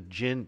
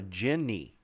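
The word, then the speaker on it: djinni: oh a genie I would call this a gin they call it a Ginny or Genie okay so Genie's okay drows drow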